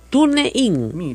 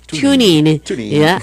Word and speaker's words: TuneIn: TuneIn. Mira, así no se dice, se llama TuneIn. Pero para que usted entienda en castellano así, TuneIn.